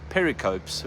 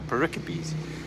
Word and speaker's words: pericopes: And the one I've realized that I think I've been getting wrong all this time, I've been calling them pericopes, where they are pericopes.